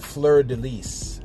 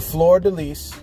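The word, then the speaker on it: fleur-de-lis: Did you know that fleur de lis, I believe is how it's said?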